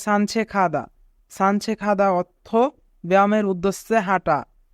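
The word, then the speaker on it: 산책하다: যদি গিয়ক বাচ্চিমের পরে হিউত থাকে তবে গিয়কের উচ্চারণ খ হয়, তাই এখানে উচ্চারণ হবে সানছেখাদা।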